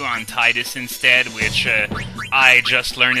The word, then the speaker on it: Tidus: And by the way, yes, I know the official pronunciation of Titus is actually Tidus.